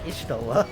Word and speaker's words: Y'shtola: Although this may blow your mind, it's technically pronounced Ishtola, actually.